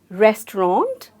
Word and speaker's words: restaurant: So this word is, it means restaurant, and clearly the T is a very, very silent sound of T is what you need to make. Some of us pronounce it as restaurant or restaurant and they forget the T behind. But you can clearly say it as restaurant, a very slight word, a very slight sound of the T, a very slight T.